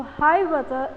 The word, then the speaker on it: Hiawatha: So, Hiawatha is the way you pronounce the word.